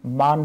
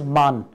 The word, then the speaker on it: Man: between Booker price एंड मान Booker price in दोनों prices में क्या फर्क है इट इज प्रोनाउंसड एज मान एंड नॉट मैन so Booker prize एंड